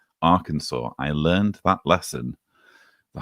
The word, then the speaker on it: Arkansas: Yes, you see, it's not pronounced Arkansas. Don't anyone tell me it's pronounced Arkansas. It's pronounced Arkansas.